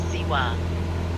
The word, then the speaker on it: Zihua: also known as ziwa by the locals and visitors who pronounce it as siwa it is sometimes called